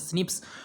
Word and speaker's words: SNP: snps single nucleotide polymorphism pronounced as snips occurs in humans this